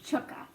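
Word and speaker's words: Tchke: c h k e I'm going to be pronouncing that as chukka so I know there can be a few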